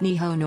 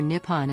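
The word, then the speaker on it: 日本: The Japanese word for Japan is, which is pronounced Nihon or Nippon and literally means the origin of the sun.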